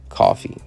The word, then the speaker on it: Coffey: character is named john coffey and one of the famous lines in it which always kind of made me smile just for how delivered is pronounced like the drink would spell differently and it just kind